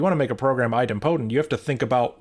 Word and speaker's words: idempotent: I think you mean idempotent. Idempotent, I think, is how you pronounce that word. I've heard one person say idempotent, and I had never heard that, and I don't think that's correct.